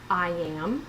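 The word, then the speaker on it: IAAM: international autoimmune arthritis movement I am is how the acronym is pronounced and uh we are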